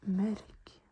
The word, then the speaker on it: mørk: And then more dark is mørk. Mørk. Mørk. It's a tricky word. You have to pronounce the Ö and roll the R.